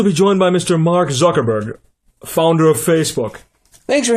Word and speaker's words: Zuckerberg: be here I'm sorry did you say his name was Mark fuckle BG um that's Zuckerberg with a z okay then with a